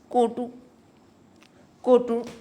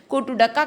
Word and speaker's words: कोटुडका: टिमकी और कोटकू कोडू कोटू कोटू सॉरी कोटुडका का इस्तेमाल किया जाता है, वाद्य यंत्र। सॉरी, यहाँ पे थोड़ी मेरी प्रोनाउंसिएशन गलत हो गई। कोटुडका का और टिमकी का उपयोग किया जाता है वाद्य यंत्र के रूप में।